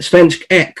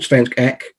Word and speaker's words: Svensk: many of them incorrectly including spence um spence eck which i think i've called svensk 15 times this evening but it's